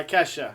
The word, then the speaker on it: Ke$ha: Ida look up this song Tik Tok by Ke$ha like is that how you pronounce it thank you for saying that I